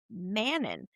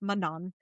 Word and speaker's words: Manon: knew the one character, I knew her as Manon, cuz that's how I've heard so many people pronounce her. And then I heard Sarah J. Maas and it's Manon. And I was like, well, that was completely wrong all this But in